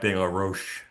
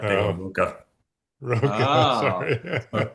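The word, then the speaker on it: de la Rocha: Uh, and just I think is a great song, but the lead singer of Rage Against Machine is not Zack Dar Ro, it's Zack Duka Roa.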